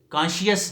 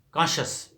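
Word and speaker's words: conscious: کرسچین نہیں، کرسچن صحیح تلفظ ہے، کرسچن. اور پھر اسی سے آگے اور بھی 2 الفاظ، کانشیس نہیں، کانشس.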